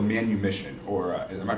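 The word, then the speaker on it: manumission: to die for uh the practice of called manu mission or am i pronouncing that correctly yes uh so uh where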